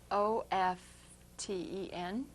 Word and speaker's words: often: And that's because, as my mother said, the T is silent like the P in bathing.